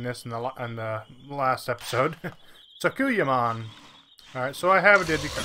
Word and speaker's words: Sakuyamon: Also, I learned how to pronounce that between this and the last episode. Sakuyamon.